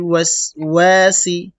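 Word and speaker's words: الْوَسْوَاسِ: সি একসাথে মিন শাররিল ওয়াসওয়াসি আবার বলি মিন শাররিল ওয়াসওয়াসি ওয়াও ঠোঁট গোল করবেন না হলে কিন্তু সঠিক উচ্চারণ হবে না ওয়াসওয়াসি একসাথে মিন শাররিল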